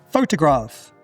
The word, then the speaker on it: photograph: Photograph. Photograph. The schwa is in that second syllable.